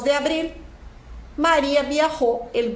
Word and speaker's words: abril: primr Fas 2 de Abril Maria vi el 2 de abril olha a pronúncia da palavra Abril não é Abril Abril o l tem que ser pronunciado Então sempre que você